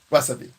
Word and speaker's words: wasabi: Wasabi. This is why I sucked in school. Chances are your pronunciation was pretty spot on. The W, S, and B sounds are practically identical to English.